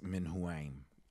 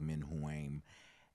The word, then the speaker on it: Menuam: but in phonetically uh it's actually like men who aim and uh or Min